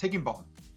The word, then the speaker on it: Higginbotham: To Shaka's defence, that's how my name gets pronounced, Higginbotham. If you pronounced it how it's spelled, then it'd be Higginbotham. But it's not a posh name, so don't try and make it posh.